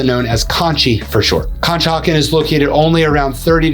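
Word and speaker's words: Conshohocken: talk about that's located in Montgomery County is kah hakin and yes that is how you pronounce it kah hawan also known as Ki for short kah hakin is located only around 30 to 35 minutes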